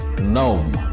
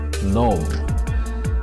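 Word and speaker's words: gnome: how do we pronounce this word g-n-o-m-e we pronounce this word as nom nom meaning of this word is a fictional being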